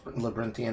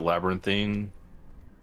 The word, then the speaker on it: labyrinthine: Actually, is it pronounced labyrinthian or labyrinthine? Always pronounce it labyrinthine. Could be labyrinthine. I think it's labyrinthine.